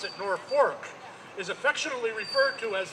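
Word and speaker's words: Norfolk: Norwalk is a affectionately, oh, as they pronounce it, Norfork is affectionately referred to as the ice box of Connecticut.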